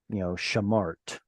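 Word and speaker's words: שָׁמַרְתְּ: And the only exception to that is when you get two shvas at the end of the word, like, shamart. You feminine, guarded. Here, both of them are going to be silent, as it were, because honestly, this used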